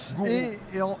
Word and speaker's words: Guru: Mais ça s'écrit Guru. Voilà, Gourou.